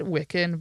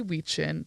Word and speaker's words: Wiccan: the ancient pagan rituals of we call it wiccan but it's actually we chin that's the connect correct pronunciation that's how you pronounce it i used